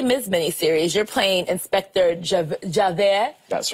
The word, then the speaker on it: Javert: And so for the Les Mis miniseries, you're playing Inspector Javert. That's right. well pronounced.